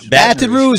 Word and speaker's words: Baton Rouge: Baton Rouge.